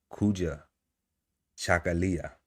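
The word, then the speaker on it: Kujichagulia: And right now, y'all, we on the second day of Kwanzaa, and it is pronounced Kuja Chakalia, which means self-determination, to define, name, create for, and speak for ourselves.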